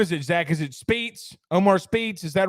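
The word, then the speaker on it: Speights: Is it Speets? Omar Speets, is that right? Spites? Okay. Spites. Okay. Omar Smites, formerly committed to the LSU Tigers. We'll talk on that as LSU Spates. The 8. Say Spates.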